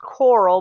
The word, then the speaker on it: Coral: It is pronounced Coral, but it's not spelled with the A, at the end.